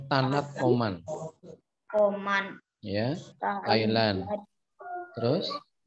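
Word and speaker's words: Thanat: 3 tahanan Tanat gitu bacanya Tanat Oman.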